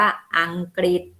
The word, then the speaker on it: อังกฤษ: คะ จะ ออก เสียง ถ้า ออก เสียง ริ นี่ คือ ควบ กับ ก ไก่ ไป เลย นะ คะ เป็น อย่าง ทำ นี้ จะ อ่าน ว่า อังกฤษ ค่ะ อัน นี้ ก็